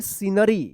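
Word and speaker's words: scenery: एस सी ई एन ई आर वाई क्या पढ़ेंगे? सीनरी यहां पे भी सी साइलेंट रहेगा।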